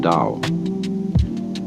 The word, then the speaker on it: Tao: word Dao you know that's spelled Tao I don't know why because it's usually pronounced Dao and the Dao means